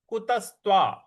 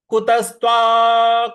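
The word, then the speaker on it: कुतस्त्वा: watch श्लोक है कुतस्त कुतस्त क पर छोटा ऊ की मात्रा है त आधा स आधा त व और आ की मात्रा कुतस्त कुतस्त कश्मलमदौ देखिए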